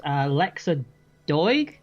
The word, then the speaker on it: Lexa Doig: The film stars Lexa Doig. Is that how you pronounce it?